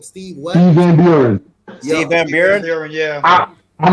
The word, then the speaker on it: Van Buren: Steve Van Buren.